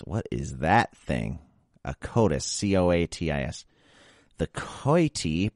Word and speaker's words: coati: A coatis. C-O-A-T-I-S. The coati, pronounced coati, okay.